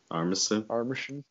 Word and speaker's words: Armisen: Armisen? Yeah. Armisen.